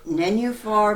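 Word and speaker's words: Nenuphar: year cube audio being I think you pronounce it menu for yes you do give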